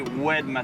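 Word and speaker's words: Oued Massa: rivière Massa on en en arabe on dit webmas ça s'écrit o u e D et il y a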